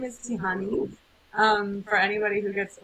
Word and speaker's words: Tiihane: well my name is tihani um for anybody who gets overwhelmed by that pronunciation it's tea honey like if you think of tea honey my name is Tahitian